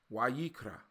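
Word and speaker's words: ויקרא: But in Hebrew, we say Wayikra.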